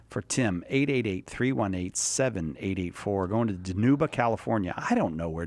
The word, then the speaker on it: Dinuba: It's actually for Dinuba.